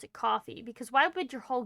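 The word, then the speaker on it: Ko-fi: No one can tell me not to pronounce it coffee because why would your whole gimmick be buy me a coffee and it's pronounced Kofi?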